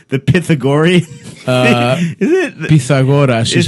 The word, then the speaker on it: Pythagoras: Is the correct Greek pronunciation the Pythagorean? Is it Pythagoras is how you say it.